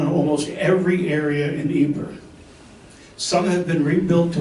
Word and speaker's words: Ypres: Now you'll hear the word Ypres, Ypres, or Ypres. The British called it wipers. They didn't know how to pronounce the proper French or Belgian word, so they would often call it wipers.